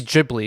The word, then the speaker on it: Ghibli: it either way but the more official way just based on you talking about the studio that makes the animations should be Ghibli because that's how the Creator did it I agree yeah so